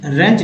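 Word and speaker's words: wrench: रेंच डब्ल्यू यहाँ silent है।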